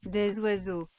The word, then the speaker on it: oiseaux: Des oiseaux. Just don't say the was. Don't say the day part. Oiseau. Des oiseaux.